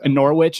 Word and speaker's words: Norwich: of oh yeah that's Norwich and West Bromwich Albion yeah yeah what's with the silent W I don't get it in the middle of words silent W oh we cut things